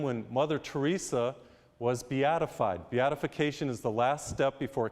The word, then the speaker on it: Beatification: Beatification is the last step before canonization. Beatification is when we pronounce Mother Teresa blessed.